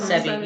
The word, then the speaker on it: Sebi: Even the doctor, how you say his name, Sebi? Dr. Sebi, yeah.